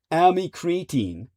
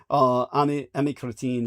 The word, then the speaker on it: amycretin: its new obesity drug, amycretin. Or am I pronouncing that correctly? Amy Cretin? That comes off horribly. Sorry, Amy, I didn't mean that. It's spelled like AMY. And then Cretin, Cretin.